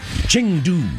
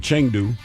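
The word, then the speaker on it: Chengdu: And I think it's more like Changdu. Changdu. Where's the A at? It's Ching. Well, C H E N.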